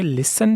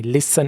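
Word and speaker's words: listen: सुनो ठीक है तो आप पहले क्या बोलोगे लिसन तू मी लिसन इसको लिसन नहीं पढ़ना साइलेंट टेस्ट में उसके बाद है लेट मी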